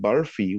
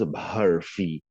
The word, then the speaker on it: barfi: they wanted the word barfi, what we know as barfi, they wanted it pronounced barfi, like a BHHARFI, barfi.